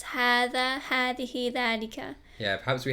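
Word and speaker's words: هذا: So essentially, it's written differently to how it's actually pronounced. And I've never actually had a student say hadha ever, even though the alif's not there, because everyone just knows it's hadha.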